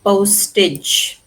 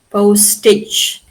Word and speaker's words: postage: postage can you see postage postage and always remember the the stress is on the first syllable postage not on this syllable okay not in This there's no stress here.